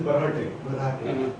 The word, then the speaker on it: Barhate: Right pronunciation is Barhate.